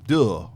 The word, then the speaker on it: deux: Part deux. Is that how you say part it? deux. But I don't know how to say it in Spanish. It's French. In French, Deux.